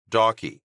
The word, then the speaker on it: Dawkey: He pronounced his surname Dawkey, saving Mal from having to ask him about the pronunciation.